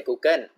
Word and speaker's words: Google: So I know in Thai we say Google, but in English we have to say the L sound.